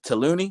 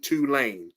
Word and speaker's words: Tulane: Talani. Okay. Versus No, bro. Tulane. Tulane. Okay. Well, it's kind of self-explanatory right there. Tulane, like you say to it. I got you. Tulane versus Oklahoma 15.